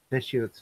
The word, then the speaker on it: Deschutes: John says Deschutes is how you say Deschutes.